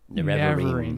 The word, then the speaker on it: Nerevarine: 7 trials of the Nerevarine. Is that how you pronounce it? I think I... The Nerevarine. Nerevarine, yeah.